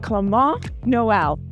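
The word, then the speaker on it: Clément Noël: him during training today's cheer interview is with clont Noel it took me a while to learn the pronunciation but we've trained in practice yeah did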